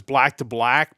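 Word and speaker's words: BLKIIBLK: of saying it um I believe it's black to black but it's spelled BL k i i BL K uh but yeah they're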